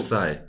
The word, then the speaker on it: Psy: The origin of Sai. Yes. This podcast is called PSY-POD. Oh, okay. And I'm Sai and this is a podcast. How do you spell it? PSY. Like Gangnam Style.